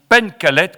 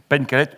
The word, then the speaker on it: Pencalet: l'élection interdite itinéraire de Joséphine Pen calette comme vous m'avez appris hier soir à le prononcer Pen calette ouvrière bretonne aux éditions